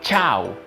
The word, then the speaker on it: chow: Y tenemos esta palabra que se pronuncia chau, con una ch seca.